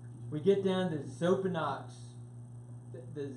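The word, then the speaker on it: Xopenex: get down to the soap and knocks the Z the X is pronounced with the Z okay this is the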